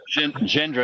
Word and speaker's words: Gendron: It's Jean Guéron. Gendron. That's actually literally how it's pronounced.